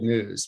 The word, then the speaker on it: gnu: company uh is good news but it's spelled kind of funny uh what's the story behind that yeah so uh it spelled good and then gnus which uh is a wildo beast a new uh and uh my